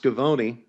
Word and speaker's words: Schiavone: Yeah, it's actually pronounced, well, I guess from Italy, it was pronounced Scavone. And then when my grandparents are from Italy, they came over, they settled in Rosetta, Pennsylvania, and the pronunciation was Schiavone.